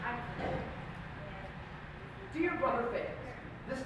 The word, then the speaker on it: Fales: Now, Fales, spelled F-A-L-E-S, not F-A-I-L-S, originates from Old Welsh, meaning to be glad, or pronounced Fale.